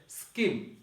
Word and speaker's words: scheme: এরপর হচ্ছে স্কিম। স্কিম অর্থ হচ্ছে পদ্ধতি। স্কিম শব্দের অর্থ হচ্ছে পদ্ধতি, পদ্ধতি বা আমরা পরিকল্পনা বলতে পারি। স্কিম এখানে এইচ আছে কিন্তু উচ্চারণ হয় নাই।